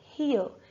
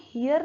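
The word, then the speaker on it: hour: इसे हर इट इसे हर इसको हम हेयर नहीं बोलते रहो हमारा साइलेंट होता है हम बोलते हैं हर इट इसे हर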